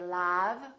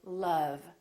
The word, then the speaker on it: love: And once in a while, this sound is also spelled with the letter O, as in words like love. We don't say love, we say love.